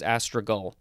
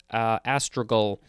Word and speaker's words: astragal: Next we have astragal or astragal. I think it's astragal. A-S-T-R-A-G-A-L. This is a noun from 1563. If I didn't look at the pronunciation guide, I'd probably want to say astragal. Because it's with a G-A-L at the end.